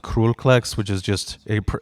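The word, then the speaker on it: Król Kleks: band's called Kroll klex which is uh it's pronounced cruelplex which is just a PR it translates to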